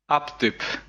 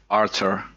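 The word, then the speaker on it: Артур: Aptyp. Aptyp. But it's like actually it's like the Russian alphabet, so it's Arthur. Ah. So the P is R and the Y is U, so I think it spells out Arthur.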